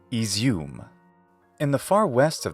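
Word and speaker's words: Izium: carcavo Blast is izum this y sometimes written as an i stands for the ya sound actually it's the palatalization of the preceding consonant but close enough so in English the right pronunciation of this city is izum in the far west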